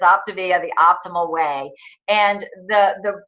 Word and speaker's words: Optavia: So if some of us I needed a lesson on even how to pronounce it, but that's what it is. It's Optavia, the optimal way.